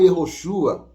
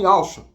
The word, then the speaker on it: Yehoshua: Quando você vai para Israel, você não vê ninguém falando Yehoshua. Não, você vê o pessoal falando Yahshua.